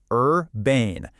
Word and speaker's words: urbane: It's two syllables, urbane. You want to make sure that second part rhymes perfectly with rain.